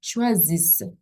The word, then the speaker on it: choisissent: then the deux S, the double S is pronounced as S. Nous choisissons, vous choisissez. What would the last one be? Ils, elles choisissent.